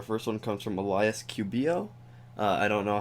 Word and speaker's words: Cubillo: Cubillo it looks like a Hispanic name, so that the double L's come off as a yo instead of a low, right? Like English is low. Okay, so in Cubillo.